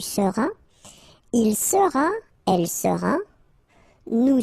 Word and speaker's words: seras: Alright, then tu seras, final S not pronounced, tu seras, il sera, elle sera,